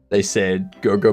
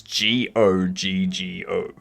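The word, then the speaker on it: Goggo: I do like how in the title of that video though, they said Go-Go Mobile with like G-O Mobile. And then in the ad, they spell it. It's G-O-G-G-O.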